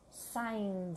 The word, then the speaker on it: signed: so the pronunciation is signed the signs we don't pronounce the G we don't pronounce the e signed only hello Susie